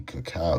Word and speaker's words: cacao: Alright, so you see how it's a which is considered the prince of cocoas, but it's pronounced actually cacao.